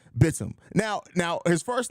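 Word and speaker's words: Bitim: They ruined me last game because the announcers pronounced it as Bateem. Then I think it was Brazil Popular. Correct me in that I actually was saying it correct, and it is Bitum.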